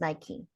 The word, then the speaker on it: Nike: the Nike um Nike it's pronounced Nike okay Nike is squash